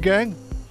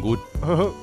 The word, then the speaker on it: Gun: Thần Gan, nghe danh đã lâu. Phát âm sai rồi, thần Gun.